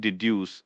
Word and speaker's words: deduce: The word deduce is pronounced d o s u with the stress on the second syllable.